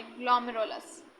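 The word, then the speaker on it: glomerulus: है, surrounding ग्लोमेरस, sorry ग्लोमेरुलस। नाम देखो कैसे कैसे रखे गए हैं ना। एक्चुअली इसे हम प्रोनाउंस पता है कैसे करेंगे, इसको हम कैसे करेंगे, ग्लोमेरुल्स, ये होगा इसका एग्जैक्ट प्रोनाउंसिएशन, ग्लोमेरुल्स।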